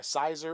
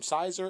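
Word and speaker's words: Siser: Although I believe it is pronounced Caesar.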